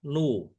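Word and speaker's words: ν: Nah, seperti ini ini dibacanya adalah nu ya, nu viskositas kinematik ya.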